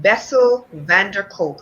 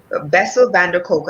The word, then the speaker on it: Bessel van der Kolk: out there by and the author is um bessel van der kolk and i'm hoping that i'm pronouncing his name correctly and he is an md bessel van der kolk and uh it's how the body keeps score